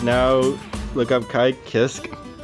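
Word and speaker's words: Kiske: now look up kai kisk i thought you know for the longest i was pronouncing this kai kisuke it is but we just say kiss because it's funny oh so this is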